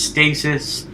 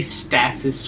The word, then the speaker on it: stasis: canon version and yes i know it's pronounced stasis i say status for some reason or are both of